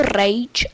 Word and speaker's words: Rage: Mohla by to být hra, která se jmenuje Rage se to píše a vyslovuje se to Rage, což je pecková střílečka.